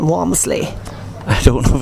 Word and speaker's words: Walmsley: see you on Facebook yeah it's it's womsley and I I'll I'll spell it for you it's